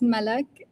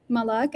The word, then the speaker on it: Malik: I like my name to be uh pronounced as Malik, not uh Malik.